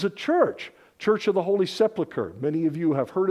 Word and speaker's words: Sepulchre: This is a church of the Holy Sepulchre. Many of you have heard of this place, some of you haven't. Often mispronounced.